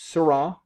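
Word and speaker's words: Seurat: was on google doodle i'm like oh that's syrah so it's a c-u-r-a-t um pronounced surah and he is known as what's a pointillist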